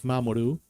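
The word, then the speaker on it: 守: The kanji for protection or to protect, which is this one, which is Mamoru, and the kanji for earth, as in planetary earth or as in space.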